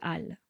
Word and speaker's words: Halles: station de métro Châtelet-Les Halles. On dit souvent Châtelet-Les Halles. Les Halles, attention, ça s'écrit avec un H, mais on ne le prononce pas. On ne dit pas les Halles, mais les Halles.